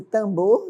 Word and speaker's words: timbre: Então, timbre pronuncia-se tambor, né?